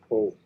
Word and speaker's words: Hull: And that's how you've got to pronounce it. Hull.